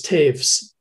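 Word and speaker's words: Toews: uh and uh travis taves whose name looks like toes but it's uh one of those german names that's pronounced not quite the same as it appears and and mr taves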